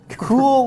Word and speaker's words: Cuil: thank you thank you that's exactly how it's pronounced uh cruel launches cruel cool launches a massive search engine with an index